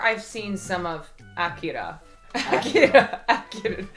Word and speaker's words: Akira: Akira. I'm trying not to say it like the car.